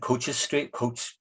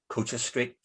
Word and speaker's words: Coates Street: So down here, you have the Celtic Bar and Coaches Street. I know it says Coates Street, but it's pronounced Coaches Street.